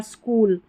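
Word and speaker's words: school: तो क्या पढ़ देना है, च, जैसे इन स्पेलिंग्स में है, देखिए चेयर, चाइल्ड, चीप, चिकन, तो इनमें, और स्कूल, ये जो स्कूल है ना इसमें नहीं है,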